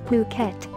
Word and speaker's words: Phuket: worldwide the beautiful tropical island of Phuket fortunately pronounced as Phuket is frequently and justifiably referred to as the